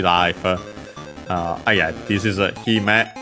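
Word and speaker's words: 姫: Uh yeah this is he met an accent on the first mor on its own.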